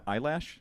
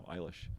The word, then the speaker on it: Eilish: How you pronounce it? Eilish? Yeah. Eyelash? No, Eilish.